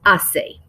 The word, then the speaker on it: hace: to write que tiempo ace que remember we don't pronounce the h's so it's ase if you want to